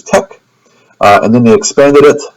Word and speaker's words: TeX: So the original typesetting language was TEX, which was tech, and then they expanded it, so now it's LaTeX.